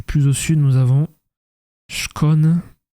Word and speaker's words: Skåne: Allez, la Suède du plus au sud, nous avons Schon. Oui, ça se prononce Schcon et Pascan.